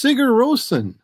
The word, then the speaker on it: Sigurðsson: I'm mispronouncing it. But my full name. It's Sigurðsson.